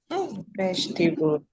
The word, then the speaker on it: vegetable: But because t here t a is in an unstressed syllable. The vowel there has to be reduced into a sure. It becomes veget. Instead of t becomes vegetable vegetable vegetable.